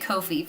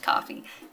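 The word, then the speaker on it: Ko-fi: somewhere else maybe like Etsy or coffee I pronounced it Kofi for the longest time but someone recently corrected me and said it's pronounced coffee did not know that which makes a lot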